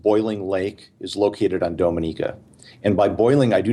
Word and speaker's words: Dominica: that one wrong well it's a confusing thing because when you say that people assume often that you're talking about the Dominican Republic right they're spelled the same it's simply where you put the emphasis on the syllable and Dominica Dominica was